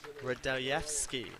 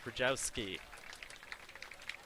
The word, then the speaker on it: Radojewski: There's an extra syllable in there. The correct pronunciation of number 36, team captain coach Chris Radojewski, not Rajowski.